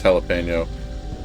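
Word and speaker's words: jalapeño: away pronunciation a pet peeve of course it's jalipeno I get that way when people pronounce like Spanish words wrong like whenever I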